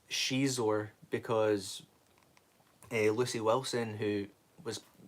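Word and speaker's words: Xizor: Or it's from the time that I corrected him on his Shadows of the Empire video, because he kept calling Shizor Zizor Zizor.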